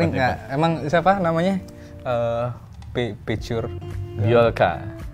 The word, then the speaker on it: Bjorka: Picture Biolka. Bacanya gitu ya? Bacanya Biolka ya? Ya. Tulisannya BJORKA. BJORKA. Biorka.